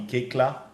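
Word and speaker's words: Koechlin: And today we're talking about the art of storytelling through podcasts with none other than Kalki Kekla. Yes, that's how her name is pronounced, and she will tell you more about that, I'm sure, because that's quite a story.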